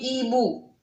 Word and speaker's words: hiboux: Regardez, là, je n'ai pas prononcé la lettre X. Animal, animaux. Un hibou, des hiboux. D'accord? Ils prennent la lettre X et la lettre X, on ne la prononce pas.